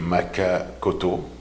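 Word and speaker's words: Maka Kotto: Bonjour, mon nom est Maka Koto, qui s'écrit M-A-K-A, plus loin K-O-T-T-O.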